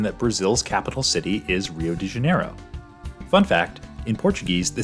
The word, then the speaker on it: Rio de Janeiro: very common misconception that Brazil's capital city is Rio de Janeiro fun fact in Portuguese the city is actually pronounced hu janeo and Rio or hu did used to be